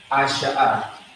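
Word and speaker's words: עשה: You have an I. You have a sh and a ha. So like it. Asha'a. Asha'a. That's how it's going to be pronounced.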